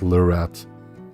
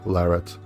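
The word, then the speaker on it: Larratt: video on Deon larett because I pronounced it lur in the video to or larat um yeah I asked Deon about it unfortunately after I made the video and he said that he didn't mind either way how you pronounce his name so I guess if the guy doesn't mind himself who am I right but yeah I should say larat like Barrett uh medieval dead says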